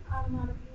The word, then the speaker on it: onomatopoeia: Onomatopoeia. Onomatopoeia. It's kind of fun to say. Onomatopoeia. And it almost looks like poia, but it's not. It's pia. Onomatopoeia.